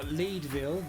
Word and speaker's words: Leadville: me so this is a town called leadville or leedville depending on how you want to pronounce the first four letters yeah i wonder